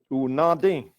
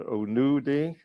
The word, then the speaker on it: Unadi: Down in Robbinsville, they say it a little different than the unadi. They may have an accent on the end of the word that's a little bit different, or the unudi. The word in the middle may change a little bit, and still means milk, but it changes.